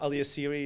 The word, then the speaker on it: Alyasiri: is Alias Siri a-l-y-a-s-i-r-i I always say my last name ends with Siri iPhone Series so when you see